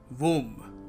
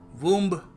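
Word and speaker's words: womb: वूम। और हम क्या कहते हैं? हम कहते हैं वूम। मदर्स वम। यस इट इज the mother's वम। नहीं बी साइलेंट है। और हम इसको बोलेंगे वूम।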